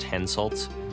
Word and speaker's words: Henselt: only by Peggy Hill so the king of Quetta one's name is pronounced henselt which i discovered upon